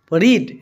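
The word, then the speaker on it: read: টু যেটু শব্দ পড়িলে রিড রিড ভার্বের পাস্ট পার্টিসিপল হইছে রেড বানান টু একেই থাকিব প্রোনাউন্সিয়েশন টু পেলে হয় মুই তল দেখো রিড রেড রেড present tense রিড past tense রেড past participle রেড হয় উপরত রেড হইছে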